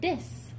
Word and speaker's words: this: to bahamians is that they do not pronounce the letter h in some words for example the word